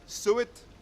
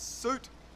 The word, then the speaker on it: suit: which is fruit okay same with suit we don't say suet same as we don't see through it it's suit and fruit if you don't